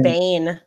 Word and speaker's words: Biehn: I always said it as Bane. I thought it was Michael Biehn.